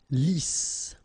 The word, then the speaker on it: lisse: Double S here, so it's really a strong S. Lisse. Okay, don't insist on the final E. Lisse.